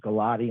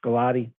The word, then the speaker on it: Gulati: spelling of the name it's actually pronounced gulati and not gato so i uh so my apologies i just wanted to make sure i was completely forth uh coming with it's gulati uh rich pilate somewhere